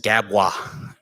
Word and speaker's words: GABWA: was for you uh dawn loves gabwa and yes i pronounced it correctly and i know